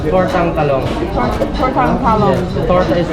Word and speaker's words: tortang talong: Tortang talong.